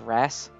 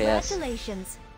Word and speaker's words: Ras: can't pronounce his name I think it's wrasse it's literally Ras okay three now I've